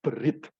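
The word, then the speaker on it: בְּרִית: Nah, huruf Ibrani yang ada di bawah itu, kita membacanya berit.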